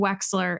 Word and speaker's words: Wechsler: your 3L year you pick up heart and wechsler and first of all when I say wechsler